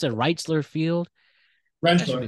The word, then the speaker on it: Rentschler: Duke going to, how do you Yeah, pronounce it? Reitzler Field. That should be Rentler. cool. Rentschler Field.